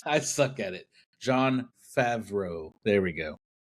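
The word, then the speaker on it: Favreau: Farvo's directing it. I I can never say his name right. If you haven't learned anything today is that I shouldn't say people's names. I suck at it. John Favro.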